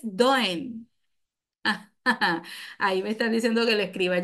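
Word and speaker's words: Dehaene: a e n e se pronuncia en francés doen ahí me están diciendo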